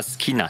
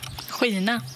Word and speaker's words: skina: Vous n'aurez pas SK comme vous le prononcerez en français si c'est suivi d'une voyelle. Ce ne sera pas SK. Donc si j'ai par exemple le verbe briller, ce n'est pas SKINA.